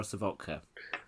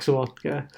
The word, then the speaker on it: Sawotka: So is it Sawotka or Savotka? It's Sawotka, the way you pronounced it.